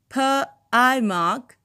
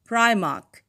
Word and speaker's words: Primark: debate as members fell into two distinct camps per i mark and primark a pronunciation apparently particularly favored by those in wales